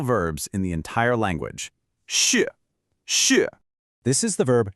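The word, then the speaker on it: 是: It's got a falling tone, so your voice starts high and drops down. Shì.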